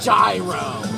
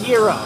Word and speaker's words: gyro: we call it a gyro gyro like a gyroscope but it's actually pronounced hero not a Euro we're